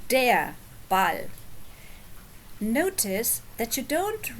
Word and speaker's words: der: So, it's der Ball. You don't actually pronounce this R because it's at the end of a word or at the end of a syllable.